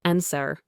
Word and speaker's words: answer: Silent W, often before R or in specific words. Right. You only hear right. Anwer. You only hear answer.